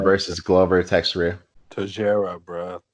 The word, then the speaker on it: Teixeira: what I called Texera. him. He clearly pronounced it Tajera, but Nigel wants to be American.